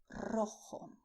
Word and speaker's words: rojo: And you also have the color red, which in Spanish is rojo.